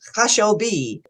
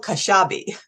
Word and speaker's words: Khashabi: Khashabi, or that's the Farsi version of it, Khashabi, but Khashabi, right? And the That's American right. version of it, the American pronunciation That's of it.